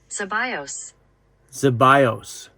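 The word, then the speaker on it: Zeballos: to pronounce that word z e b a l oos according to Google it's pronounced zos zos I don't know if that's true or or not goes into slow mode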